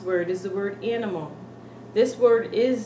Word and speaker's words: animal: they come out with animal. You have an accent when you say things like that. When you pronounce it in the way we pronounce in English, you come out with an English accent.